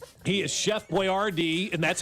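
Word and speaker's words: Boyardee: He is Chef Boyardd.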